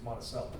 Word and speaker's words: Monticello: If you say it properly, the way Thomas Jefferson's home is, Yeah. it's Monticello. Okay. But the town of Jefferson County is Monticello. Okay.